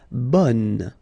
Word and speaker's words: bonne: Okay, so bon will become bonne. Okay, so the sound is changing quite much, because here you've got this nasal, bon, okay, and then bonne.